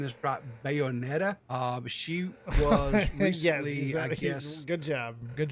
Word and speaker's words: Bayonetta: called and I hope I'm saying this about Bayonetta uh she was yeah good job good job old man yes you said it right Bayonetta okay all right she had this to say